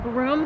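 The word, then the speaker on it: Brougham: but it's a Roman site and it's actually pronounced broom Castle why nobody knows they just decided for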